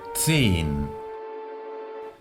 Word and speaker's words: zehn: la pronunciaremos aspirándola, Haus, o tras una vocal que indicará que esa vocal es larga. Zehn. Seguro que para algunos de vosotros, tal y como lo estoy pronunciando, se asemejará más a una I que a una E.